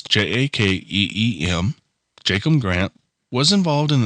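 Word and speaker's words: Jakeem: wide receiver Jacob Grant I hope I pronounced his name right it's j a Keem Jacob Grant was involved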